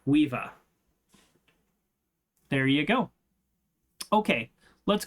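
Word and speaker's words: Caoimhe: to pronounce it I just asking how to pronounce this word yeah um so that's yes c a o i m h e weeva there you go okay let's call it there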